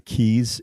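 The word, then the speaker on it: Caius: after Dr Keys who is the founder of keys College Cambridge no kidding that's it's pronounced keys I think it's it's even though it's C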